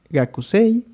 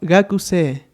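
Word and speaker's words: 学生: Para nuestra primera palabra se va a pronunciar como gakusei, ya que bueno, aquí cumpliendo la regla tenemos nuestra vocal larga, de igual forma que esta de acá, teniendo en este caso profesor como sensei.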